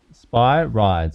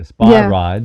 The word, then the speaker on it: Spyrides: So I say, spy, like you're spying, you're kind of spying on something, and then rides, like you're riding a little roller coaster. So spy rides, is how you pronounce it, Spyrides.